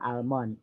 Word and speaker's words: almond: L-nya tidak dibaca. Sama kayak kacang almond.